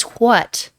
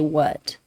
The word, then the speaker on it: what: For non-native English speakers, no one says what. No one says that. We say what. There's no H pronunciation.